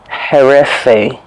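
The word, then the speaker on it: הרפו: translated in the Bible, is this word herefe, is how I believe it's pronounced. He, resh, pe, vav.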